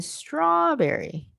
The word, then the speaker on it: strawberry: So berry, and then rawberry, and then strawberry, right?